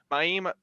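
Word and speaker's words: Mayim: got buzzy cohen who is a previous contestant miami that's how you pronounce it and then sanjay gupta um and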